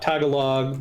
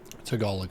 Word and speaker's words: Tagalog: Tagalog, I think, is the pronunciation. Thank you. Yeah, no problem. I'm always screwing it up. Well, you're pronouncing it as it would be pronounced in English, so can't really fault you for that.